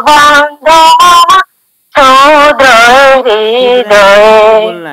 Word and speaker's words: ক্ষুদ্র: এসো গো বন্ধু মামা क्षुद्र हृदय बोलना है छ का उच्चारण ख करना है छ का उच्चारण ख से करना है ख से खरगोश से करना है ना तो क्षुद्र ক্ষুদ্র